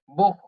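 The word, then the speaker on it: Buch: বে বে বে বেতে বুখ বে উ সে হা বুখ বু বে উ সে হা বুখ বেতে বু বু মানে বই সেহা এর আগে যদি উ থাকে তখন খ এর মত উচ্চারণ করতে হয় হ্যা এবং আ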